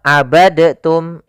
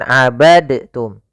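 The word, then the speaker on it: عَبَدْتُمْ: Hati-hati jangan dibaca abadtum ya, tapi langsung dimasukkan ke ta. Abadtum, bukan abadtum.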